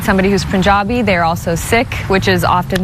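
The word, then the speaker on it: Sikh: Uh chances are if you meet somebody who's Punjabi they're also sik which is often mispronounced as sik.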